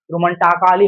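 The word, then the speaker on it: romantically: Double L वाई से पहले क्या आया? ए आया। तो ए को हम क्या पढ़ेंगे? नहीं पढ़ेंगे। रोमांटिक में हम अगर पढ़ेंगे रोमांटकाली हो जाएगा। ठीक है? क्या हो जाएगा? रोमांटकाली।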